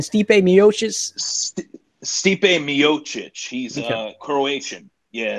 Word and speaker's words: Miocic: today is UFC news after the DC savvy pronounces guys named Ryan steep a miosha's steep a Miocic he's Croatian yeah it's a very common Croatian